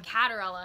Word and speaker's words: Caterella: cater Ella right yeah Kat or Ella yeah it spelled Kate or Ella but I pronounce it Kat or Ella I know I know